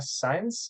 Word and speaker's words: Saenz: Today, I'm joined by the lovely Brianna Science. Is that how you say it? Yep.